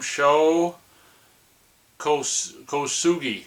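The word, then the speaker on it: Sho Kosugi: my first introduction to show, how do you pronounce his name? Show co Kosugi show co.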